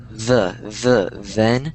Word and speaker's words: then: So than sounded like and then sounds like den. That's how a lot of people pronounce it, but it's it's like than and then. So it's the TH sound that's kind of difficult. It's not a D, it's then, than.